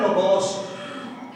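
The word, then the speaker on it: λόγος: ये लफ्ज लोगोस, जी सुनिए, लफ्ज है लोगोस, जिसे बुजुर्ग कुछ और प्रोनाउंस कर रहे थे। लोगोस ग्रीक वर्ड है।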